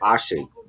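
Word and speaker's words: Ashé: I know people gonna get it wrong when they hear the album, but it's pronounced Ashe.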